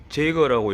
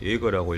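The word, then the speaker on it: Jaeger: 해보겠습니다 여기 보시면 알겠지만 jae 제거라고 읽으면 안 되고 요거는 그냥 예거라고 읽으면 됩니다 그리고 29인치 에어샥입니다 여기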